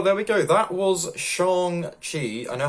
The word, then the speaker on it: Shang-Chi: we go that was shang chi i know how to pronounce it now it's more like shang chi isn't it well that was shanxi